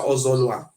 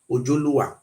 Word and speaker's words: Ojoluwa: Then this one I say Oba Ozolwa. He say Oba Ozolwa. He say the original pronunciation for here is now Oba Ojoluwa.